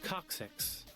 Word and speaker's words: coccyx: How do you pronounce that? Coccyx.